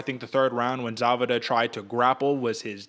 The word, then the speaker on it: Zawada: I just found out that's how you pronounce the German names. The W's or V's. So Zawada, David Zawada, Saget.